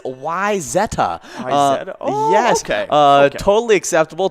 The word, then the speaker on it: Wayzata: yeah so for me i'm going to pronounce it wayzata wayzata well the common mints pronunciation is wayzada uh actual pronunciation is why zetta yes okay uh totally